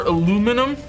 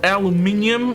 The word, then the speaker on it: aluminium: let's make some more aluminum or aluminium or however you pronounce it depending on where you live i know that there is some debate over the proper pronunciation and let's let's make